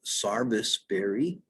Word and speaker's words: serviceberry: see these in bloom it's called sarvis berry s-e-r-b-i-c-e i think it's the only institutionalized mispronunciation of a name i know of sarvis berry the berries